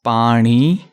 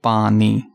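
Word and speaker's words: ਪਾਣੀ: So make sure we are pronouncing this as Pani, not Pani.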